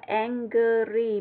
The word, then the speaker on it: angry: Phiên âm rõ ra là angry. Mình nhấn mà cái chữ rg nó rất là nhẹ, đọc là angry.